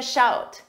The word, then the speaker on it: shout: Number 14, give me a shout. First, notice in the last one, shoot, pronunciation, oot. This one, out, shout, shoot, shout. This means call me or contact me.